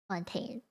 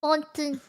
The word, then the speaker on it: Fontaine: This one, Fontaine. Because it's French. Remember, it's That's the French. only meme I know. It's Fontaine is French. Okay, gotcha. Fontaine. It's supposed to sound like it's French. So Fontaine, and Fontaine.